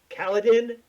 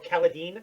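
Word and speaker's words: Kaladin: Oh, Kaledin. Oh, or Caladine. I think it's Kaledine is the way they actually pronounce it.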